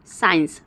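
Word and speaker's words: science: नहीं हो रहा है साइंस अगर साइंस की बात करते हैं तो आप देखिए एक ही स का उच्चारण आ रहा है मसल्स मसल्स में भी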